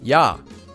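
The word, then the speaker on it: ㅑ: This vowel is pronounced ya like the ya sound in the word yan.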